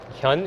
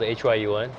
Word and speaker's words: Hyun: Hyun, it's spelled H-Y-U-N.